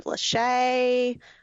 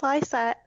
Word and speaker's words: Lycette: And people mispronounce. I hear are you Lachey? Lysette? And I'm like, no, it's Lysette.